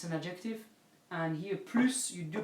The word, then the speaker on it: plus: it for it yeah so if it's plus a quantity then you pronounce it if it's PL quality then you don't pronounce it and if it's PL